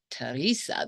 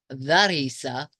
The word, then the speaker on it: Teresa: so but Terry says people get my first and last name wrong all the time and being my name is Teresa they often call me Thea and not Teresa I think I call